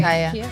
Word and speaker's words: Kaya: Kaya, Is it Kaya or? Is Either it way. Kaya. It's Kaya? Kaya.